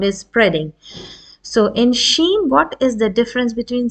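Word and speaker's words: شين: now we come to Sheen now Sheen is actually a letter when you pronounce this letter you hear the sound spreading as you uh shush a baby when you pronounce this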